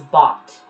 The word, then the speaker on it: bought: last bought pronunciation here this is only pronounced as bought I know there is a G of U of G and an H but don't worry about these letters because your not pronounced at all but by bought bought don't pronounce these letters just think of the